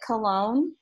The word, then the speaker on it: Cologne: So this is one of the cities I traveled to, and we pronounce it Cologne, which it is where perfume or cologne came from. They spell it slightly differently in Germany.